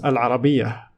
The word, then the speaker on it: العربية: - we have stab at it so we pronounced more buta as her so it becomes a lara BIA all right so let's have a comparison between